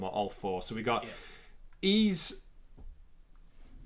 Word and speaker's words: Ys: So, according to Reddit, where you get all the hardened facts, it's pronounced ease. Long E sound, hard S. The best description ever, like the word geese without the G. Yeah. Ease.